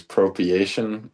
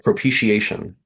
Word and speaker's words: propitiation: like just one of the biggest examples is Propriation. Did I say that right? I think I butchered it maybe. It's propitiation. Uh yeah, dude.